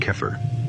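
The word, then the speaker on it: Xeper: temple of set is Zipper pronounced keer an ancient Egyptian term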